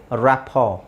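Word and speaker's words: rapport: ಅಲ್ಲ ಹೇಳ್ತಾರೆ but still ಈ ಎರಡನ್ನು ಸೈಲೆಂಟ್ ಮಾಡಬಹುದು ಇಲ್ಲಿ ಎರಡನ್ನು ಸೈಲೆಂಟ್ ಮಾಡಬಹುದು just say ರಾಪೋರ್ ರಾಪೋರ್ buffet debut ವ್ಯಾಲೆ asthma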